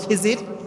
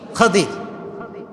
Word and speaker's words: খাদির: তার নাম কি খাদিজির আমরা বলি খিজির তবে এটার আসল উচ্চারণ হচ্ছে খাদিজির উচ্চারণটা আসলে কি খাদির খাদিজির মানে হচ্ছে সবুজ